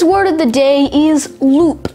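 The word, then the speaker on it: loupe: today's word of the day is loop spelled l-o-u-p-e loop now loop is a noun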